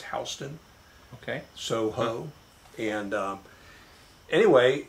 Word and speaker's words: Houston: Spelled like Houston, but it's Houston.